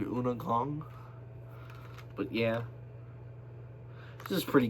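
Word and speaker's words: Undergang: U N D E R G A N G. It's under Gang in English, but it's pronunciated Una Gong.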